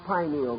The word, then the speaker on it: pineal: The pineal or pineal gland, either pronunciation is correct, located in the central part of the brain, still remains the mystery gland of the human body.